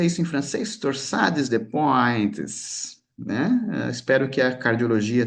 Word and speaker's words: Torsades de pointes: Como é que se pronuncia isso em francês? Torsades de pointes, né?